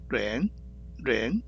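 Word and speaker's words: 仁: 어질인, 렌 발음되죠.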